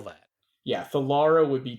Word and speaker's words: Thalara: me I'm thinking I'm thinking her name is theara and her surname is salonus how do I spell that yeah theara would be t h a l a r